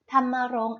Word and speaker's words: ธำมรงค์: ต่อ ไป นะ คะ คำ ว่า ธำมรงค์ ค่ะ ธำมรงค์ อ่าน ว่า ธำมรงค์ ธำมรงค์ ประกอบ ไป ด้วย ทอ